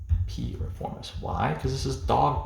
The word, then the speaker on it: piriformis: Now finally, we're going to have piriformis. We just remember this as P. Reformis. P. Reformis.